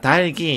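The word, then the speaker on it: 닭이: 시옷은 된 소리로 발음하니까 값시가 아니고 값시가 되는 거죠. 자, 달기 역시 닭 뒤에 조사가 형식 형태소가 왔기 때문에 뒤에 것만을 디음절 첫 소리로 옮겨서 달기가 되는 거예요.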